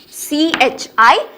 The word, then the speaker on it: chi: It is written as CHI, pronounced as chi.